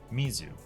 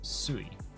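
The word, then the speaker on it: 水: I need to internalize not always but often when you have multiple characters that make up one word like Cayman or uh suiyobi it's going to be using the own reading versus often when it's all by itself it's going to be using the reading like Mizu versus sui okay and then this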